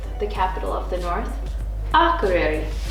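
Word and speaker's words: Akureyri: capital of the north a career our career a career I mean it's easy when you say it right but I've heard like a Curie I've heard a lot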